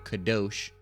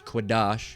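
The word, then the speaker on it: קדוש: The 1948ers, the small hatters, they say Kadosh. It's Quadash, all right? That's how it's pronounced.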